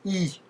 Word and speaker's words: и: ce n à l'envers c'est la lettre I le i le i mou on appelle ça un